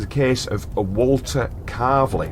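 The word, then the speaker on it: Calverley: our local area because the whole area of car is where it's like a region near the curve it's car and it's spelled c a l v e r l e y car and it's come up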